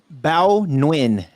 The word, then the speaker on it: Bao Nguyen: statement to the verge you say beau nugent i don't know how do you say that bao nguyen that's what i said